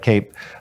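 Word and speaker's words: CAEP: I can't remember how it's spelled, but Cape.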